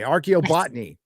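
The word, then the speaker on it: archaeobotany: college for uh how do you say that arob botney okay archo botney cool uh so that's really interesting that I'm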